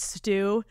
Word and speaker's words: Stu: Thanks, Stu. Rhymes with poo.